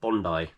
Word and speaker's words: Bondi: Bondi Bondi 7 although I was corrected in a comment I can't remember who it was from exactly but apparently it's pronounced Bondi so Bondi 7 I think it's like an Australian word or to do it like an Australian Beach I don't know but